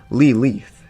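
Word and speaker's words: לילית: of the modern day the word Lilith comes from an ancient Hebrew word originally pronounced lee leaf a singular feminine noun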